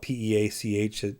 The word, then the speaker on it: Pietsch: I would have known who she was, and her name is spelled, it isn't spelled P-E-A-C-H, Peach. It's like P-I-E-T-S-C-H.